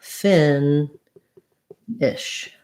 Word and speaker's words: finish: this one is short so it sounds like fin ish finish so little almost no vowel there in that second syllable good question thank you